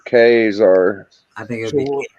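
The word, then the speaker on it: Ka-Zar: It actually shows how you pronounce it right here because it's a hard K and A. Yeah. I believe. And then it's Zar, K-Zar.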